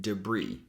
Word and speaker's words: debris: So the first syllable becomes duh and the second syllable is brie with that tense e sound e. And that's how we say it. Debris.